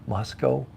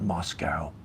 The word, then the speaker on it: Moscow: Moscow is that right who's ever complaining about the way I say it Moscow okay I think I said it right uh not Moscow not like Russia don't say it like Russia uh how long will the